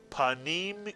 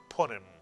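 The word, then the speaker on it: פנים: The first syllable is pa, and the second syllable is neem, mitsuyan, neem. Put the word together. Panim is correct, mitsuyan.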